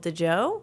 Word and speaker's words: DJO: DJO, I think they're called DeJoe.